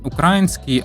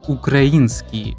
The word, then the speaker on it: український: Втім, слід запам'ятати, правильно не український, а український, бо наголос Україна.